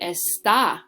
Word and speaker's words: está: But here, la pluma está. Now my strength or my emphasis is going on the second syllable.